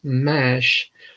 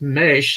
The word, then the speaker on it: Maisch: saw a color mesh of course i was pronouncing it wrong and thought it as mash and i heard an interview another interview and it was mesh and so i'm thinking